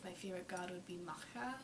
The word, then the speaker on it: Macha: favorite god would be macha which is m-a-c-h-a that's how i pronounce it she is the goddess